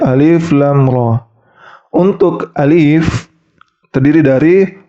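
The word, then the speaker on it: الر: alif lam dan Ro Jadi bukan dibaca ala ro tapi dibaca alif lam ro untuk Alif terdiri dari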